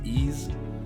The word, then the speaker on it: Is: same author they did i think it's called pronounced ease ease which was a shonen jump title so another